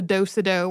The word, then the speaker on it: do-si-do: So, for example, the do-si-do, also called the do-si-do or various other slight regional pronunciations.